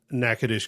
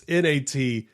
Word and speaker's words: Natchitoches: Not the way it sounds at all. Not the way it sounds. It's NATCHITOCHES.